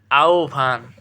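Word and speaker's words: আহ্বান: এরপরে আহভান আহবান এ আহবান উচ্চারণ কি হবে আহভান এরপরে আস কন্যা এ কন্যা এটা কি হবে কন্যা সর উচ্চারণ বুঝছো?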